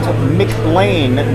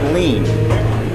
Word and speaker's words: McLain: Pronounced Mclain not lean.